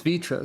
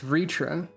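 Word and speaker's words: Vrtra: you with another question sometimes it's vitra sometimes it's ritra there's a lot of inconsistent pronunciation happening in end Walker that's confusing me because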